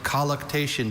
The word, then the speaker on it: colluctation: The all-night colluctation between Jacob and the angel is one of Beth's favorite Bible stories. Colluctation. Are there any alternate pronunciations? I have only colluctation.